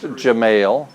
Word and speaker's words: Gemayel: so yes I do his name is Darja mail pronounced gemayel and he was a